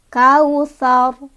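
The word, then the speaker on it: الْكَوْثَر: Tebal yang dimaksud adalah bunyi huruf seolah-olah bunyinya memenuhi semua rongga mulut. Sar, bukan sar.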